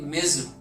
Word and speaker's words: Ms: होता है मिज, MS, इसको हम प्रोनाउंस करते हैं नॉर्मली मिज, MIZ, मिज प्रोनाउंस होता है, लेकिन इसको मिस भी प्रोनाउंस कर सकते हैं, लेकिन नॉर्मली जो होता है वो मिज होता है, ठीक है।